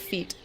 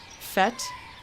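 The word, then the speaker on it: fête: F-E-T-E with the little caret over the first E. I've seen it in books before. I've just always pronounced it feet. It's probably something weird in French. Fete? Okay. Fete.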